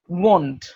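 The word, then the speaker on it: won't: সো এখানে সহজ যেটা ব্যাপার আছে, আমরা, শামীম ভাই আপনি ওয়ান বলতে পারেন তো, ওয়ান, one, এই ওয়ানের সাথে একটা ট লাগান, ওয়ান্ট, want, হয়ে গেল।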